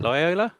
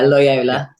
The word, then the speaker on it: Loyola: you pronounce it is Loyola is that you pronounce it lyola yeah lyola yeah you spent four years there you you